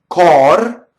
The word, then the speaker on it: cor: So it's open O, but in this case, the R is going to roll because it touches a D, right? It touches a consonant.